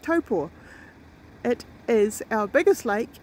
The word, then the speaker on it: Taupo: yeah that is Lake taupo toe pool toe four dead after match correction of my pronunciation by Jay it's like Topo it is our biggest